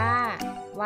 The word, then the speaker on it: ไหว้: อักษร ต่ำ ค่ะ เช่น คำ ว่า ไหว้ อ่าน ว่า ไหว้ คำ ว่า หมอน อ่าน